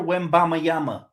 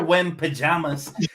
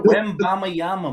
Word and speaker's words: Wembanyama: But what team would you like to see Victor Wembanyama? Yeah, I said it right. It ain't Victor Wembajamas. It's Victor Wembanyama, man.